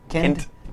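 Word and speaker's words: Kindt: It's Kind with a T. Kind.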